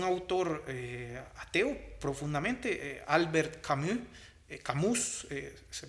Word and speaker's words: Camus: reflexivo es un autor ateo profundamente albert camus camus se pronuncia a cambio y el autor es recientemente